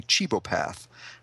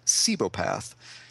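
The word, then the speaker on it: cibopath: up today I was pronouncing what I was pronouncing what he is as a cheapo path but when I looked it up today I guess wikipedia told me it's pronounced sebo path so that has rewired my brain now and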